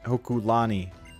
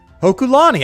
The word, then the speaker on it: Hokulani: Hokuani. Let me read that again. Hokulani. I've been saying it right.